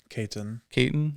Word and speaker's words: Caton: Caton. Is that how you pronounce it?